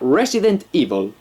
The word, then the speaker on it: Resident Evil: famoso con temática zombie pronunciado en inglés sería resident y bolt como lo decimos ni siquiera somos tan elegantes como para decir 'resident evil' decimos 'resident evil' sin